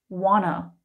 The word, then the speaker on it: want to: Want to is often heard and pronounced wanna.